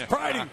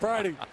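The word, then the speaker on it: Pridie: Pretty? We got Pretty in here? No, it's Pridey. It's Pridey.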